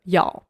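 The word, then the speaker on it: 一: полягає в тому що коли ми називаємо номер одиничку замість і ми будемо вимовляти як Яо тільки в номерах тільки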